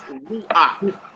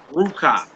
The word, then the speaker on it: ruach: co next one says ruach ruach no is not pronounced Koka and it's not pronounced Ruka it's pronounced as an a everybody understand that everybody